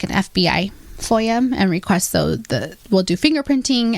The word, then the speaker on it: FOIA: And then VAWA request. Is that how you say it? FOIA. FOIA. Yeah. FOIA request.